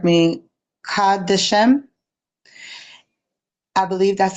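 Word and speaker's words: קדשים: the term, and for anybody, please correct me, Kadeshem, I believe that's how you pronounce it. It gets mistranslated, right? As male. Kodeshim. Kodeshim. Yeah, Kodeshim.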